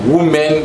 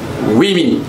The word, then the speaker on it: women: Pour prononcer très bien, si vous voulez dire le mot là, il se prononce women. Women, pas dit woman, women.